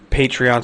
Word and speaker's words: Patreon: Patreon, I believe, is how you're supposed to pronounce it.